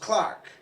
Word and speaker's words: clerk: from the ancient work Clerk which used to be actually pronounced Clark you know and from